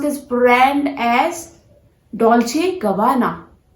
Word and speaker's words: Dolce & Gabbana: Dolce & Gabbana. No, that was the mistake you were doing since so many years. This is not Dolce & Gabbana.